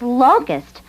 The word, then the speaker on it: locus: things right that's the idea now what does locust mean to you it's an insect and when they come in swarms they eat plants and leaves no that's Locust I said Locust l o c u s